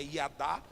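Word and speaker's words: ידע: que é a palavra iada. O jeito certo de pronunciar é iadá.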